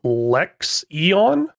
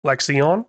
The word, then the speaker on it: Lexion: go back and check that comment apparently it's pronounced lexon lexon that's what I'm going refer to it as let me know if that's wrong do got a mod in here did get some CLA lexion in there you know that's another thing I've